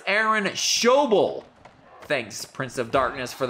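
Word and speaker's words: Aaron Schobel: and ten nowhere to go for mcallister it's aaron shoble thanks prince of darkness for the pronunciation tip and that's that's the second pronunciation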